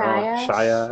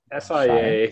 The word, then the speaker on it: Sia: Is that how you pronounce it? Shea? I don't know. Shia? I thought it was Sia. S-I-A.